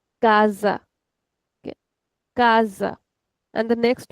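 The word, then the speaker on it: casa: So here these words this will be read as kaza.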